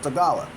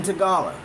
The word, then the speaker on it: Tagalog: It's spelled Tagalog, but it's pronounced Tagala, I think.